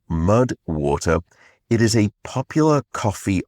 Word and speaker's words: MUDWTR: That is where the supporter of today's podcast comes in, Mud Water, and it is spelled MUDWTR. So Mud Water.